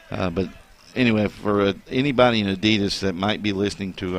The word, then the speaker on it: Adidas: Is it Adidas? Adidas. Well, just You know that's the correct way to say it. Adidas.